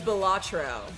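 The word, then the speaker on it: Balatro: Oh, it's Bellatro. Bellatro. Oh, I'm pronouncing it wrong.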